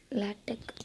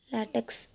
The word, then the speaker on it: LaTeX: லேட்டெக் அப்படிங்கிற வேர்ட் லேட்டெக் அப்படின்னா ப்ரொனவுன்ஸ் பண்ணலாம், லேட்டெக்ஸ் அப்படின்னா ப்ரொனவுன்ஸ் பண்ணக்கூடாது. You just say லேட்டெக் ஆர் லேட்டெக்.